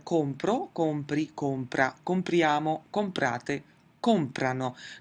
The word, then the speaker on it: comprano: Notice that in the 'lore' form in none of the conjugations will we ever have the emphasis on the ending itself. It's always going to be before the ending so it's COM-prano, PREN-dono, AP-rono.